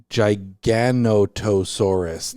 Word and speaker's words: Giganotosaurus: Giganotosaurus. Yeah. That seems like an extra syllable that didn't need to be in there.